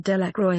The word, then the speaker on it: Delacroix: Jones and Dicky delaqua the villagers pronounced this name Delacroix eventually made a great